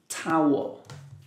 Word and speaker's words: towel: Remember OW here, pronounced ow. Towel.